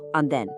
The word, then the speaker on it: andén: from our 3-step checklist, andén, meaning platform. Notice the accent mark over the E. That tells us to put the vocal stress firmly on the final syllable, andén.